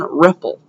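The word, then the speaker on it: REPL: just opened is called the python Ripple R it's an acronym it stands for read evaluate print Loop so let me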